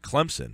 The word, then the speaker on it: Clemson: If you say it with a Z, a lot of broadcasters will do that.